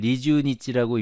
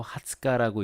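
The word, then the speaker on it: 二十日: 뒤에도 코노 병원가 하츠카카라 20일을 리주니치라고 읽지 않고 하츠카라고 읽습니다.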